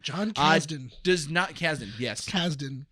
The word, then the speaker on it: Kasdan: John Kasdan, I think is how you pronounce his last name. John Kasdan.